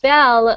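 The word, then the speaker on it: belle: Uh then we have a beautiful woman which is a bell and we it is pronounced just like bell bell and bell but bell like this is actually a French word.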